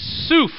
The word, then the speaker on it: suf: The word reeds is suf. Everyone say suf.